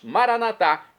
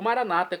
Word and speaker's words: maranata: Agora eu clamo do aramaico, dialeto de Jesus, maranatá, como nós católicos falamos, ou maranata, como dizem nossos irmãos separados das comunidades evangélicas ou protestantes. Não importa a pronúncia como a tônica na última sílaba ou numa penúltima, não importa.